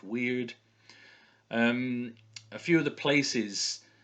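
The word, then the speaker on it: wyrd: It's pronounced weird.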